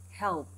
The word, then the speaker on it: health: And finally, health, health, health, this l sound and then the th sound.